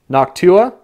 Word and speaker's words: Noctua: the noctus or how do you say it Noctua noctua is the standard for it when it